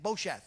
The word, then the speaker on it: Bosheth: Bosheth is how you say it, which means shame in the Hebrew language.